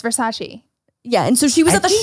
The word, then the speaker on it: Versace: And it's Versace.